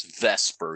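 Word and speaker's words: VSEPR: r otherwise known as you say it as Vesper even though it's VF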